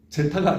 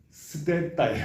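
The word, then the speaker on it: ζῆτα: 알파, 베타, 감마, 델타, 엡실론, 제타가 아니고요. 스테타예요 이게. 스테타, 에타, 테타, 이오타, 까빠, 람다, 뮤, 우 음라우트, 뉘, 크시 이게 지금의 X의 이퀴벌런트 한 거거든요.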